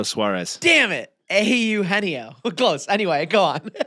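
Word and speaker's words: Eugenio: Au Heno. Close. Anyway, go on. Au Nio. I I saw his name pronounced in the broadcast the other night. I'm like, "Oh, yeah. There's no G in there."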